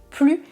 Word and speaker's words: plus: Écoutez bien la règle. Je ne prononce pas le S du mot plus si le mot suivant est un adjectif ou un adverbe qui commence par une consonne.